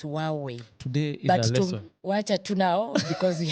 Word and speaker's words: Huawei: this pronunciation as well is it hway hwe no it's supposed to be huaweii supposed to be silent it's hwei today watch now because